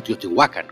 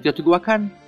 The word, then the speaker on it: Teotihuacan: él menos certezas tienes en Teotihuacán o Teotihuacan como es su correcta pronunciación en la lengua nahel los arqueólogos no lo tienen fácil a no haber evidencias escritas en Teotihuacán todos son conjeturas el